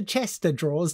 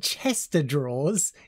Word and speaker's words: chest of drawers: to the other room what I've always called it Chester drawers are you sure oh that makes sense I've been saying it wrong all this time okay good good uh let's change you are a I am B 3 2 1 go it's not chest of drawers it's chest of drawers yes I'm sure